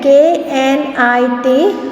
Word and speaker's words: knit: Then KNIT, knit. K is silent over here because when we pronounce it as knit. K pronunciation has not been heard.